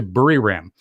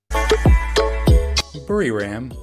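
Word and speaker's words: Buriram: we'll come right back bury ram whereas the thai people pronounce it is located 410 kilometers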